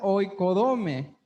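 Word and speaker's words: οἰκοδομή: La palabra edificar es la G3619, que se pronuncia oikodome, que es construir.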